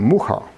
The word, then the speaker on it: Mucha: And then we came across another artist, Alfons Mucha. Okay? They pronounce his name Mucha.